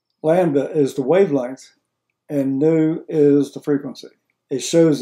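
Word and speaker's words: nu: Looks like a V, but it's pronounced new, where E is the energy, H is plank's constant, and new is the frequency.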